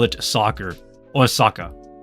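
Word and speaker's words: サッカー: In Japan, we call it, well, in Japan, they call it soccer, or saka. You don't pronounce the R because the R is silent.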